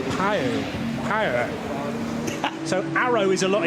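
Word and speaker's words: Pijl: So it's pronounced, I think, something like Pio.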